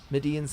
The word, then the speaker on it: Midian: Is that how you pronounce that? Midian's hands."